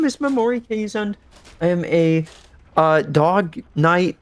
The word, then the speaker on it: Keeshond: Not a lot of people know how to say it, which is fair because it's a rare breed of Dutch dog. I butchered the last name. Most people do. Most people say Keeshond or Keeshond. I've heard a lot of Keeshhound.